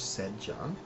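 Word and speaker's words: secgan: And please note that CG is pronounced like DG in modern English, Sejan.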